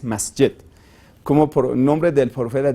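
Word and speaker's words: مسجد: de rezo mesquita bueno mezquita es como cambiar pronunciación del de la misma palabra que en árabes masjet como por nombre del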